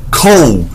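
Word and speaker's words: kohl: and cosmetics often known by the Arabic name cole guess how cold is spelled k o h l why does that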